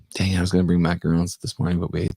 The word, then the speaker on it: macaron: so there you go mackerels like the actual french like the little sandwich cookies say it right macaron know how many